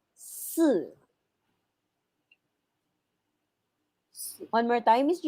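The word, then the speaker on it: sì: okay okay remember that if i if a letter i is partner with letter z c and s the pronunciation of i here is so instead of saying see that is su one more time is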